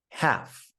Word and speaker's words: half: The L is silent in the following words: half, Calm, palm, salmon, folk. yolk.